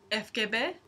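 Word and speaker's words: ФГБ: that's the sm but in this case it's pronounced fkbe and sm now remember my terrible drawing of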